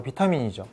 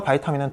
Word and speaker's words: vitamin: 비타민을 서로 다르게 발음합니다 미국은 바이타민 영국은 비타민 비타민은 사실 영국식 발음입니다 실제로 영국에서도 이렇게 발음을 하는 것으로 알려져 있고 오랜기간 우리에게도 익숙한 것은 바로 비타민이죠 그렇다면 도대체 뭐가 맞느냐 바이타민은 틀린 표현이냐 그것도 아니라고 해요 표준 국어대사전에 따르면 비타민과 바이타민은 동의어이며 모두 표준어로 등재되어 있습니다 둘 다 쓰셔도